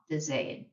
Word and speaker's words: Wiedersehen: So the W is a V sound, and then the IE, pronounce the E. So Wiedersehen.